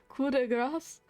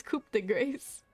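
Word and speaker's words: coup de grâce: the coup de grace that's how it's pronounced cuda grass i thought it was coop the grace no the thunder is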